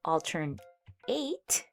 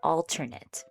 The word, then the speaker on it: alternate: And alternate can also be used as a noun, but we do pronounce it a little bit differently. It now becomes an alternate. So, instead of altern eight, it's alternate.